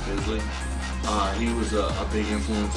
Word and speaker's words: Bisley: Simon Beasley, also Simon Bisley. I think that's how you pronounce it, Bisley.